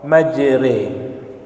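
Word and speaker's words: مجراها: surah 12 ayat 11 ada imalah imalah itu berharakat fathah tetapi bacanya dimiringkan ke kasrah ada di surah Hud surah 11 ayat 41 Bismillahi majriha Bismillahi tulisannya ro tapi karena imalah harakat fathahnya dibaca miring dibaca kasrah majre Lalu ada tashil tashil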